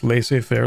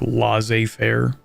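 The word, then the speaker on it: laissez-faire: spell it fair you ever hear somebody pronounce lasay Fair like L Fair it's one of those small things that really grinds my gears not going to lie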